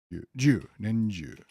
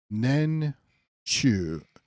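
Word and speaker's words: 年中: Nenju, not Jo. So it should be pronounced Nen Chu, but the Rendaku makes it Nenju.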